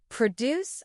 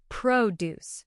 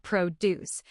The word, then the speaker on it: produce: Produce. And notice the stress is on the first syllable. Produce. Not produce.